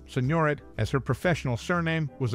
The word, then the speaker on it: Signoret: film industry and Beyond Simone soret pronounced Senor I Pender autobiography titled